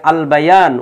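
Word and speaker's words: البيان: আল ইনসান উচ্চারণ হচ্ছে, হ্যাঁ, তারপরে আল বায়ান উচ্চারণ হচ্ছে।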